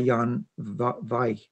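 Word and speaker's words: Jan Vijg: It was in Cell by Jan Vaj, if you say it correctly.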